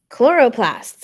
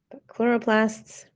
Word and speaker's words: chloroplast: Chloroplasts. Again, there's that ch sound that doesn't sound like a ch. It sounds like a k.